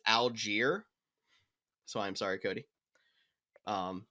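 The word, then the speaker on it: Allgeier: Tyler, I did find out it's Algier.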